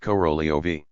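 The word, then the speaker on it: Korolev: Hence, the transliteration corf though it is pronounced corolio.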